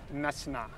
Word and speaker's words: machina: No, it's pronounced deus ex machina. Okay, it's pronounced deus ex machina. Machina.